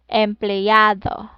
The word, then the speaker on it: empleado: Here in letter E and Y, okay. So, um, E and Y. So if pronounced in English word rather, stay, play, try. In Tagalog, Rena, no, I'm sorry, Reina, empleado. Reina, Reina, Reina, okay, and empleado, okay.